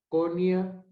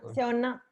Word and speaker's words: Shona: A ver si nuestra hermana Conia, no sé cómo se pronuncia tu nombre. Shona.